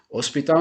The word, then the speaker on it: hospital: Hospital em inglês eu pronuncio hospital, hospital.